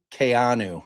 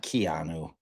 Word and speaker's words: Keanu: Kayanu is how you pronounce it. My my nephew is Kayanu. It's not Keanu. That's incorrect. That's incorrectly pronounced.